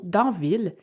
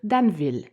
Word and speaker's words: Danville: à prononcé plusieurs fois le mot Danville alors que j'aurais plutôt dû dire daneville vous avez été nombreux